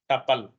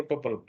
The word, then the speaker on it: tuple: Value अकर इन अ टपल। कहीं मतलब टुपल भी बोलते हैं इसको, टुपल। तो टपल यू साइलेंट रहता है, टपल बोलते हैं।